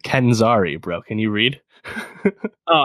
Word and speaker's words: Kenzari: Obviously, we got Will Smith as the genie, Marwin Kamari as Jafar, and Nassim. Come on, pronounce these right. Kenzari, bro.